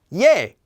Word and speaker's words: ㅒ: and we had a we also have ye this one has the exact same sound as yey which we just did but looks a